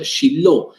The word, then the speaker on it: Shiloh: 369 años en Silo, que en hebreo se pronuncia Shiloh.